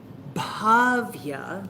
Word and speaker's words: Bhavya: Bhavya. It's a long first A. It's not just a different pronunciation, it's a different letter, it's a different meaning altogether.